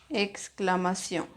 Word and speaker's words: exclamación: Exclamación. Exclamación. Exclamación. Una sola sílaba. Miremos dónde tiene el acento en la última sílaba.